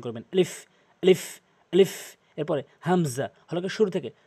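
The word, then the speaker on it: همزة: আলিফ আলিফ আলিফ এরপরে হামজা হল শুরু থেকে হামজা হামজা হামজা বলা যাবে না হামজা এভাবে বলবেন হামজা এরপরে হা এবং হা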